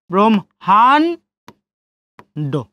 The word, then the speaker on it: ব্রহ্মাণ্ড: তো দেখেন বড় ফলা ব্রো, এখন হয় ম আছে, তাহলে কি উচ্চারণ করবো? ম এবং হ। ব্রহ্ম হ, ব্রহ্মাণ্ড।